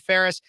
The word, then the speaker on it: Phares: Speechless with, Phares is the last name. I know it might sound like Ferris wheel, and it does sound like it, but it's not spelled like it.